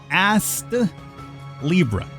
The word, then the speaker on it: Astlibra: well last time but as Libra I'm going to try to pronounce that t a little bit extra hard otherwise it comes out like you know the old booty Libra that said this is